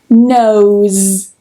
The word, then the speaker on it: nose: If you said z, then you are correct. Nose, nose. So here we have a vowel at the end.